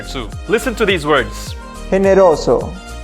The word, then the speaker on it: generoso: listen to these words generoso it makes a rasping sound in the throat generoso hymnasio in general the